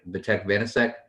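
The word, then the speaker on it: Vítek Vaněček: Did I pronounce that right? Vitek Vanacek.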